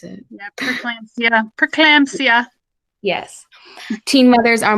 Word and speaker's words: preeclampsia: I don't know how to pronounce it. Yeah, preeclampsia.